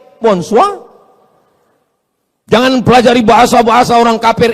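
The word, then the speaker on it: bonsoir: Emangnya bahasa Perancis mudah tulisannya bon jowur. Bacanya bonjo, bon soir, bonsa.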